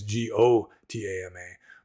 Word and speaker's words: Gotama: Like Gautama is pronounced like in Sanskrit, like English in transliterated in English it'd be Gautama, whereas in Pali it's Gotama. But the Burmese pronounce the